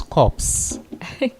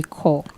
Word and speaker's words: corps: You pronounce it as if it's spelled C-O-R-E.